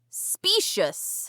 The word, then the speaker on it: specious: This week's vocab word is specious. Specious. Yep. It is spelled s p e c i o u s. Okay. Specious. like spacious with an e.